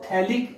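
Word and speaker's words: phthalic: थैलिक acid में PN silent रहता है तो आप इसको थैलिक एसिड बोलेंगे।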